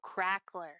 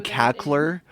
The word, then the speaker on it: crackler: cackler with a C or is it uh it's spelled sand CR a c k l e r oh crackler yeah I have horrible pronunciation issue no no it's totally I keep I keep saying cackler and it's supposed to be crackler uh Nix